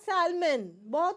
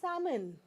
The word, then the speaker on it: salmon: breeds of fish okay it is not salmon common word people in India are calling it salmon salmon no it is salmon salmon please I need some salmon for my sandwich is that clear so